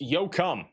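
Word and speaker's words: Yoakum: Yo cum is pronounced yo cum.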